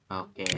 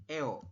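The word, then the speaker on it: ㅓ: Tulisan Latinnya memang EO, cuman dibacanya tetap O, seperti itu.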